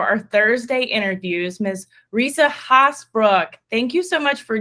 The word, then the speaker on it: Haasbroek: female entrepreneur for our Thursday interviews Miss Risa hosbrook thank you so much for joining us I'm